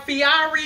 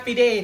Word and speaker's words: Fieri: can nachos you might think his name is pronounced guy fiori like i did i used to think his name was guy piara because that's how it's you know look like